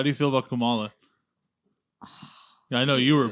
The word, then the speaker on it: Kamala: So Hillary, how do you feel about Kamala?